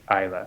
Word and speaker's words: Islay: And that's pronounced Isla.